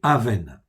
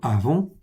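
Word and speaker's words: אָוֶן: fait en dessous, ok, c'est presque comme avon, en fait ici, vous l'avez ici, ok, ça s'écrit comme ça. Les lettres, en fait, sont les mêmes, sauf les voyelles.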